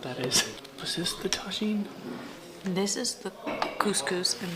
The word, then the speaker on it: tagine: I'm pronouncing it in Spanish. Tagine, not tahine.